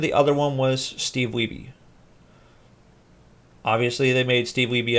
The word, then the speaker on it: Wiebe: meet Steve Wiebe, and I could be saying his name wrong. It could be Weeb, but as far as I know, it's Steve Wiebe.